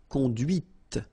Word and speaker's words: conduit: C'est la voiture que tu as conduite. And that's when you hear the difference between conduit, because remember, final T is not pronounced, conduit, here, and then the feminine, conduite.